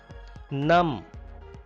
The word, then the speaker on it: numb: Numb, B is silent here.